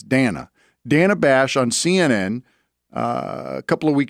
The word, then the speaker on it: Dana: I used to call her Dana. It's Dana.